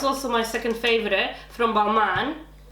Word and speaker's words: Balmain: But I must say, this mask, this is also my second favorite from Balmain.